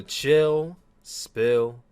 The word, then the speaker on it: Chill Spill: The S is silent, by the way. Yo, what is going on, guys? It's your boy Tyler Mask, aka Tyler Q Williams, aka Tyler Suplex, aka the one who lived. And welcome back. Had to say the back 3 times for you guys, cheap pop. To another exciting edition of the Chill Spill Podcast. And that is pill spelled with an S, but it is silent.